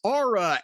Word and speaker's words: Aura: And by the way, it's Aura. A U A folks. See, I have no accent. I'm very neutral, so I can pronounce Aura Frames.